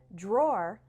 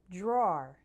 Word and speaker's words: drawer: more like an O so drawer rhymes with store try saying it really slowly and then at a more normal speed drawer another word a lot